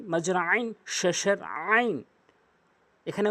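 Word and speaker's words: ع: এখানে উচ্চারণে খেয়াল করবেন একটি হচ্ছে এটি হচ্ছে হলকের মাঝখান থেকে উচ্চারণ করতে হয় চাপ দিয়ে অধিকাংশের একটা ভুল হয় আইন বলতে হবে আইন বলা যাবে না আইন বলতে হবে চাপ দিয়ে এবং হরফ দেখুন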